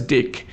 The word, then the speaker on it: deque: It is pronounced as deck. So it allows insertion and removal from both ends. A deck can behave as a stack leo or a Q FIFO.